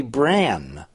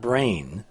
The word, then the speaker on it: brane: It should be bran, not brain.